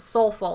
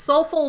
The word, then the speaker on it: SOLFL: Rebecca started using the slogan, School of Life for Life, or SOLFL for short, which is pronounced soulful. It's soulful without the U.